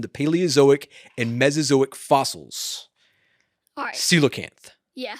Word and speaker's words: coelacanth: paleozoic and mesozoic fossils coelacanth yeah so is it pronounced c locant or c la cant uh i believe it's can't yeah i'm i'm asking if it's a oh or uh in the middle so c low canthar